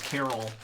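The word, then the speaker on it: Karol: my character's name is Carol but it's spelled ka rol her like cool barbarian type name just happens to sound like the name Carol would sound and I came 28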